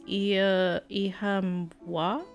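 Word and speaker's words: Oíche mhaith: One dialect pronounced it as Ihamwa?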